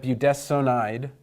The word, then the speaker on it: budesonide: and so we have budesonide and we pronounce this s o n not as Sun but as sewn and I'm not going